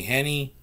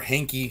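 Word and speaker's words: Heinicke: starting quarterback fitzpatrick is done it's gonna be henny uh or hinky should i say that's how you pronounce his name i know people are asking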